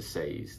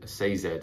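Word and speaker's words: Sazed: he's going to tie himself to SED and the reason I think he would tie himself to say say Zed I should say I always say his name wrong the reason I think he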